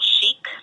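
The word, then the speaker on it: Sheek: media I am social Chic across pretty much all the handles um Chic spelled s h e EK like rhymes with geek because uh it was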